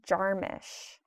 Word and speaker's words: Jarmusch: fun to hear um also i think he pronounces it jim jarmisch yeah well i specifically just said jarmusch because